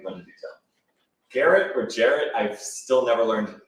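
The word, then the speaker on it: Gerrit: Garrett. Garrett, okay. I thought I heard someone trying to pronounce it in Dutch.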